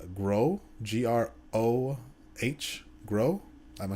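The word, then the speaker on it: Grøh: It's Groh, G-R-O-H, Groh. Am I saying that right? I think so. Yeah. He looks cool. No, you're sure it's wrong. Yeah, I think so. It's pronounced Gua. Gua.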